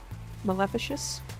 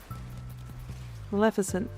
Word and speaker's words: Maleficent: Maleficious. Maleficent is the right way to say that.